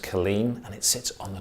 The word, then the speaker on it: Culzean: It's spelt Culzean, but pronounced Killeen, and it sits on the top of the cliffs down in Ayrshire.